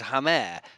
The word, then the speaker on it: Hamer: Is that because the answer is Hamer, but I don't really think you can say that, can you? But where are you getting Hamer from? From his own YouTube video of him pronouncing his own name.